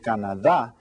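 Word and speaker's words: Canadá: that's right en español CDC kannada it sounds like the same as in English except that you stress that last syllable ok now does anyone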